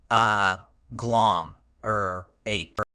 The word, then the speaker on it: agglomerate: another error is mispronunciation remember the stress is on the second syllable uh glom or a to truly Master this